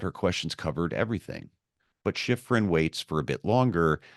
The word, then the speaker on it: Schifrin: Former NPR journalist Deborah, if I'm saying it right, Schifrin. Schifrin.